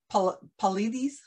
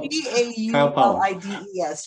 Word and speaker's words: Paulides: So David Paulides, how do you say his last name? I've actually never heard it pronounced.